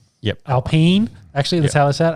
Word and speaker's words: Alpine: grade um with he's not with is it alpine yep alpene actually let's tell us that alpene yes um